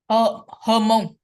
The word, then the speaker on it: Hmong: Hmong.